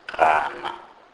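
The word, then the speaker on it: gana: G is pronounced as R, and this letter is pronounced like the sound which is made when one hawks. For example, rana, which is refuse.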